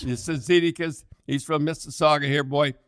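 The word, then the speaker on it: Cizikas: A few guys, Cecily, that guy from, how do you pronounce that guy's name from? Casey Tzidkikas. Tzidkikas.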